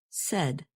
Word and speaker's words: said: And notice that the past tense of say is pronounced said. You can remember this pronunciation by thinking of words that rhyme with said, such as read and head.